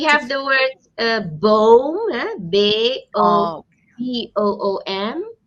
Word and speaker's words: boom: Okay, we have the word boom, Oh, B-O-O-M. So we don't call it bomb, but we read it or we pronounce it as boom. Boom. okay. You need to stretch it a bit.